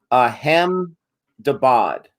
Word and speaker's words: Ahmedabad: Arjus got us some pronunciation guides here. Ahmedabad.